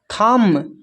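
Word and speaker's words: thumb: फिर है थम, थम में जो है बी साइलेंट है।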